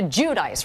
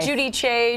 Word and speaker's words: Giudice: So, we're all supposed to call you Teresa Judice, right? Not Judy Chay, Judich. I mean, that's the Italian way, but nobody knows how to say it. I mean, you know how to say it, but you know what? I'm Joe and I are fine with saying Judice.